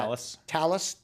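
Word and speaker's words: Talos: But what Cisco has done is they've really with this I don't know how they pronounce that. Talis.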